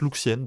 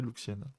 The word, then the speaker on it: Lucienne: Le colonel Young et la plupart du personnel militaire sont retenus à la merci de l'Alliance Lucienne, qui prononce Luxienne, donc je vais prononcer Luxienne.